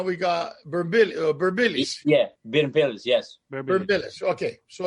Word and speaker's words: Birmpilis: That's how you pronounce Burbillis. Burbillis.